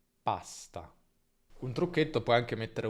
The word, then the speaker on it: pasta: In italiano non c'è nessuna aspirazione, quindi non diciamo pasta, ma pasta.